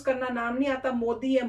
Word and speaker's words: मोदी: इनका भी वही काम है, उनको अभी तक इंडिया में रह के मोदी जी को प्रोनाउंस करना नाम नहीं आता, मोदी है, मोडी नहीं है।